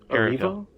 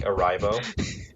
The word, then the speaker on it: Erivo: No, but you could pronounce it differently. Yeah. Like, I mean, theoretically speaking, don't record me saying this, but somebody could pronounce it as, like, Arrivo.